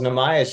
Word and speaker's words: Nahmias: The founder and CEO of Food Forward, Nahmias. Welcome. All right. All three syllables. All three syllables. All three syllables. Nahmias, you got it in there.